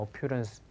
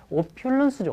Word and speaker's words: opulence: 오퓨런스 풍요란 뜻입니다. 발음이 좀 안 좋아졌죠? 그건 틀린 발음이죠. 오퓨런스가 뭐야? 잘 모릅니다. 오퓰런스죠. 오퓰런스.